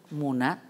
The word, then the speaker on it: Muna: Pero esa población musulmana está ahí, ¿y cómo se pronuncia tu nombre? -Muna.